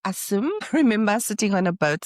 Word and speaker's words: Assam: So she was an Asim but in India it's pronounced Asim.